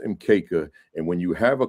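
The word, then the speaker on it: mkeka: ma right everything is in kisuahili and it's pronounced mka and when you have a quanza display when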